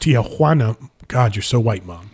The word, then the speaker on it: Tijuana: pronouncing it that way all last episode, it's pronounced Tijuana. God, you're so white, Mom. It's a funny that's line, awesome. But that's also why I kept pronouncing Tijuana that Mom's way.